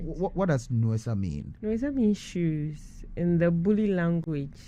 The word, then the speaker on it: Nuesa: So the Bulisa people, yes, in their Buli language, yes, pronounce or they call shoes Nuesa. So Nuesa.